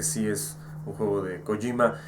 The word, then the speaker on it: Kojima: juego de kojima y disculpen por haber dicho cojímar en todo el vídeo es colima yo sé la pronunciación correcta lo más cercano y japoneses kojima no con no kojima es kojima creo que es kojima pero bueno yo